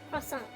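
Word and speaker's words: croissant: learn French says also how do you pronounce crong uh crong crong French glic bread says yeah that's perfect it's like would you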